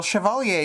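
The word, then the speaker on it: chevalier: Uh well shioalier is supposed to be the correct pronunciation in story.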